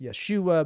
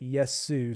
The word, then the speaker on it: Yesu: you mentioned to me the name sometimes gets mispronounced yes because there's other words that look like it either it's project yes it's project Yeshua but this is Project yes Sue so I'm curious where'd